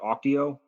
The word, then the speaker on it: Auctio: today so uh first of all did I pronounce the name of your company correctly is it Oco you did yes okay cool and what did